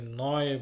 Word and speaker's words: neu: উচ্চারণটা শুনুন, লক্ষ্য করুন, আমি কিন্তু নিউ বলছি না, আমি নয় বলছি। মানে জার্মানিতে সবসময় ইউ এর উচ্চারণ অয় হবে।